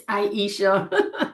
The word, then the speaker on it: Aisha: the conversation, but I don't think I ever pronounce my name properly for you. It's Aisha, and that's fine.